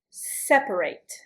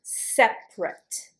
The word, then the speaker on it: separate: Separate or separate. There are two different pronunciations for this word. Separate is the verb and you pronounce it separate. Separate. Separate is the adjective and you pronounce it in two syllables.